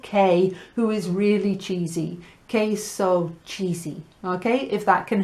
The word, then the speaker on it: queso: Cheese is queso. Never go with a q sound, okay? It's queso. So think of a woman called Kay who is really cheesy. Queso cheesy, okay?